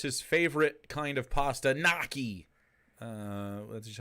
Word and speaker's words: gnocchi: and of course his favorite kind of pasta noi uh that's just how you say it going